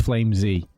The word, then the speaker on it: Flamesy: He said it is Flamesy.